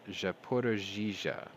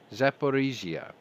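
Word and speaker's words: Zaporizhzhia: the longest time uh they fired two missiles over japorajija wait did i say that right no see i always say that wrong zaporizia there you go that's what it is i always get that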